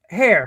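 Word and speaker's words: Hare: Robert hair pronounce it har hair hair like a like a rabbit like a rabbit like a rabbit like a rabbit.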